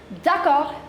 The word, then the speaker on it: d'accord: You don't have to pronounce this last consonant D, it's still R. D'accord, d'accord, which means okay.